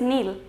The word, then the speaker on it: kneel: So we are not going to pronounce K. Next word is kneel.